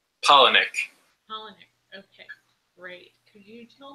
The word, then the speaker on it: Palahniuk: I'm saying his last name wrong. Chuck Palahniuk. Palahniuk.